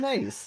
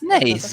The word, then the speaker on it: Naze: Yeah, the nays. Naze. That's correct. I said Naze. It was more the added H on the Essex, but the nays was fine.